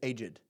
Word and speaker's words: aged: funny how they aged they pronounce it as two syllables it's not aged debts it's aged they're they're old they're senior